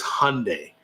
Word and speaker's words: Hyundai: them and I'm like, how do you pronounce it? If I'm going to own the car, I want to pronounce it right. And they told me it was Hyundai, which I find stupid, but apparently the company calls it Hyundai.